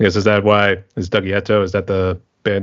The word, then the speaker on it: Dougieto: I think a lot of people think it's Italian, but no, it's meant to sound Japanese, so it's meant to be pronounced like Dougieto, like that.